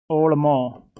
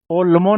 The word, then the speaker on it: ओळमो: अंतस्रो ओळमो। ओल्मो नहीं है, ओल्मो। Rajasthani में इसको ड़ बोलते हैं, न नहीं बोलते हैं। इसका अलग से ही प्रोनाउंसिएशन होता है, अंतस्रो ओल्मो।